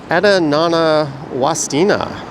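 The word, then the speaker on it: Wasdina: And apparently that's pronounced Wastina.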